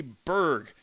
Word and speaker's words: burg: would use b-u-r-g in the correct pronunciation would be Berg except there's really no